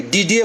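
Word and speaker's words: Didier: परसों का मामला है, डीडियर रोल्ट, हम फ्रांस में काम करते हैं तो I know how to spell, इसको डीडियर नहीं कहेंगे, डीडीए बोलते हैं, आर इज साइलेंट।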